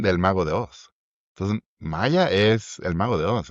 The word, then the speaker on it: Maya: O sea, Maya tiene, perdón, Maya, lo pronunció muy en argentino.